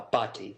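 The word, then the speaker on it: Bhatti: yes sir i'm here how do you say your name sir uh pati is my last name okay thank you dr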